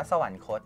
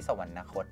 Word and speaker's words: สวรรคต: นะ ครับ เช่น อ่า สวรรคต อ่าน ว่า สวรรคต ณ ไม่ ใช่ สวรรนคต นะ ก็ เช่น พระ บาท สมเด็จ